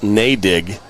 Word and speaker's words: Nadig: And it's pronounced Nadig, not whatever I was pronouncing before.